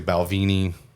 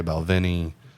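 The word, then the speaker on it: Balvenie: that Scots will like a lot of Americans say balvini Scots would normally say bvin it's close enough okay all right fair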